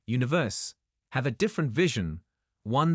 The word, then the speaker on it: One Verse: While many leverage their fame to promote albums, merch, and endorsements, Yoo Luk and Kim Seok, members of breakout group One Verse, pronounced Universe, have a different vision, one that is deeply personal.